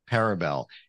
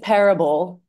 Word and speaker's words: parable: with that literary term parabel am I explaining that right a story that has a direction you're definitely explaining it right you're not absolutely pronouncing it correctly though it's it's parable like Parable because the restaurant is